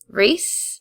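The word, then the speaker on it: Rhys: can you say his name again R re reys sorry it's a Welsh name I'm sorry R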